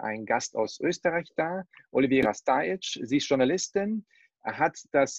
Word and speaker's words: Olivera Stajić: du hast mich schon vorgestellt und es fast richtig ausgesprochen. Nein, Spaß. Olivera Stajic ist mein Name.